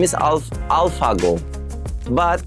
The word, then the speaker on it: AlphaGo: his name is Al alphago but Korean peop cannot pronunce it Alpha F pronunciation they cannot pronounce so they call it Alpo and this is my